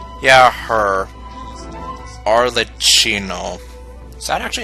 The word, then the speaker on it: Arlecchino: Okay, so it's pronounced Arlecchino. So I was a little bit closer with the second pronunciation.